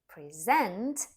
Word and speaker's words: present: present for my birthday present on the other hand stressed on the second syllable is a verb and it could mean